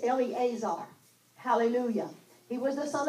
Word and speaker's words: Eleazar: mighties now this Eleazar in the uh Hebrew it's just pronounced elazar elazar but in our English version It's Eleazar Hallelujah he was the